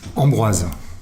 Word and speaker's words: Ambroise: What's the French pronunciation of that? Ambroise.